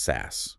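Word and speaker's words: SaaS: At the top you have software as a service or SAS pronounced SAS like webmail like Gmail or CRM like Salesforce.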